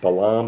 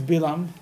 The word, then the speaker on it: Bilam: I read Hebrew. I don't read good English. I can tell you that in Hebrew it's Bilam.